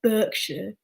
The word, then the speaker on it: Berkshire: but people would pronounce it but berkshire and berkshire well i pronounce it berkshire because that's how it's pronounced